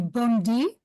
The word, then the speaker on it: Bondi: the way the name of this lady has pronounced it was actually Bondi yes there's also a well-known one in Israel